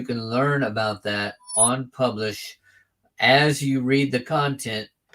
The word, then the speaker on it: Publish0x: And they actually pronounce that publish, but it's got a 0 and an X on the end.